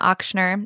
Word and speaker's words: Ochsner: me on Instagram at my name auctioner it's j n a o c HS n r I really wish it was phonetically simple but it's with one in and my last name is not easy you can find me